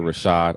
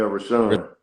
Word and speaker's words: RaShaun: special special guest Mr Rashad I'm saying your name right right yeah rashan see I didn't say it right but with ran it's